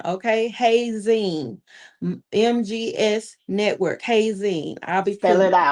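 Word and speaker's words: Heyzin: MGS Network Hay Zeen. I'll be filling Spell it out. H E Y like hey girl, hey. Right? Z I N like magazine, but Hay Zeen.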